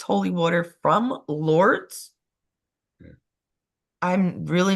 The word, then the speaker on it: Lourdes: Lourdes is France. I thought Lourdes was France. Lourdes? Lourdes? Lourdes. No, it's Lourdes. Lourdes. That's how you pronounce that.